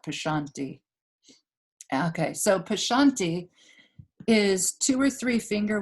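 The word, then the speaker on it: pashyanti: p-a-s-h yanti y-a-n-t prashanti the y kind of slips out prashanti okay so pashanti is two or three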